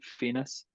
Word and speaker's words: Fiennes: Fiennes.